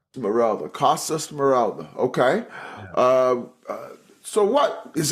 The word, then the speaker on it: Smeralda: It's like Esmeralda without the E. Smalda. Morala. Costa Smoralda.